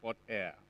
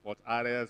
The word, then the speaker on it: Fort Hare: Yeah, I know that a lot of people have challenges pronouncing that word, air, Fort Air. Some pronounce it Fort Are, some pronounce it Fort Are.